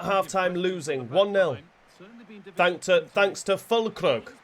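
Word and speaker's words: Füllkrug: Is it Freiburg? I'm not sure, but Onana's not stopping that one, and we are losing 1-0. Fulkrug, not Freiburg. That's the team, isn't it?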